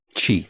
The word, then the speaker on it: χ: Darkness they would gather light okay Chi that's how it's pronounced okay there's a traitor Among Us well